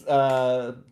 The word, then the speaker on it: Saoirse: It's Sicha. Sicha. Sears? No, it's Sicha. It's SAOIRSE from Jesus, Ireland. Rob, you always get me so prepared for this. You're welcome. Surprises. It's Sicha.